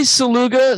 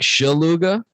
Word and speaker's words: Szleuga: I say Szleuga. Some people either drop the Z or they drop the S. I'm cool with either. It's supposed to be more like Szleuga. Ah. Yeah, which is pretty neat, but that's, yes. My Polish family decided to change the pronunciation and not the spelling, which is a very Polish thing to do.